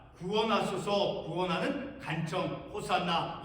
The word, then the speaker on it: 호산나: 자, 구원하소서, 구원하는 간청, 호산나. 이 호산나라고 하는 이 발음은 신약 성경이 기록되어 있는 그 헬라어 발음으로 호산나라고 발음하고 있는 것입니다.